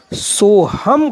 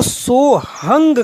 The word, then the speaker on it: सोहम: अगर जो एक ही श्वास मानते हैं वो इसका उच्चारण सोहम करेंगे। अन्य संत जो प्राचीन परंपरावादी हैं वो इसको सोहंग कहेंगे।